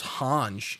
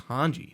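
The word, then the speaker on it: Hange: thought her name was Hans in like the sub because I might say it differently I'm like no it's hanji like yeah say hanji yeah they might they must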